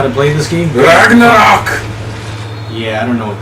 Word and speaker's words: Ragnarok: Ragnarok. No, it's not Ragnarok. Say it with me. Rag. Nah. Rock. Ragnarok? Yes. Now put it all together. It's Ragnarok!